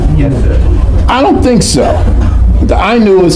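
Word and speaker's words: Ainu: The Inu is spelled A I NU and they're very very ancient people in Japan.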